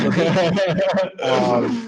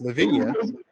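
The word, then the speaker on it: La Vigne: And in fact, technically, I butcher my own last name because it is pronounced Levine. And I go with Lavinia.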